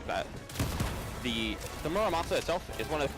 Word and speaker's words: Muramasa: It's not Muramasa, it's Murasama. That's what it is.